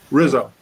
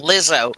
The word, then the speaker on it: Rizzo: Yeah, How do you say it? Rizzo. Rizzo. I thought you were saying Lizzo. Oh, thank God you weren't.